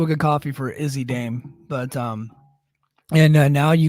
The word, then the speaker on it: Dame: then you saw Izzy Dame come out and she Russell Jordan and I you know what I I made the joke is he lame I made that I her name just rhymes with lame and I thought it